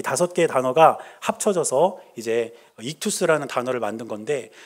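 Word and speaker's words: ΙΧΘΥΣ: 그런데 이 5개의 알파벳으로 모여있는 이 헬라어를 어떻게 읽냐면 익투스 이렇게 읽어요.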